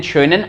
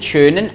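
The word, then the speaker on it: schönen: और आइनन शोनन आबंड, तो प्रोनाउंसिएशन आपका प्रॉपर होना चाहिए, उमलाउट आते ही वो साउंड निकलना चाहिए, शोनन, आइनन शोनन, शोनन नहीं, आइनन शोनन ठाग, शोए नहीं, show show, शोनन ठाग, आइनन शोनन ठाग, आइनन शोनन आबंड।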